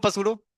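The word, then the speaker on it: pseudo: जल्दी से हेडिंग मारो पसूड़ो फर्स्ट ऑर्डर रे पसूड़ो मतलब स्पेलिंग ये रही मेरी इंग्लिश खतरनाक है तो मैं यहां पी नहीं करता साइलेंट में। यूजली पी साइलेंट होता है।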